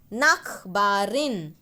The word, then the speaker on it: Nachbarin: Nachbarin. Here, try to underline CH and write K. Okay? K. Nak. How we say nose in Marathi or Hindi? Nak.